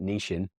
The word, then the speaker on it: niching: It will, and it's a great example of I'm going to use the British pronunciation of it, niching.